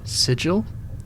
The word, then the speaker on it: Sigil: Hard G is Sigil, isn't it? That's a hard G.